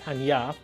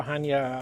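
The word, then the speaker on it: Chania: way to pronounce it because it's actually spelled with a c and nobody would know better than you our destination expert ah thank you edie um the way it is uh pronounced is hanya and the reason we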